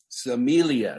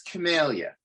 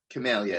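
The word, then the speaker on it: Cimelia: look at for example samilia is that how we pronounce it no it's camellia camellia it's a latin word and you know uh in latin actually a c is pronounced like a k so if you were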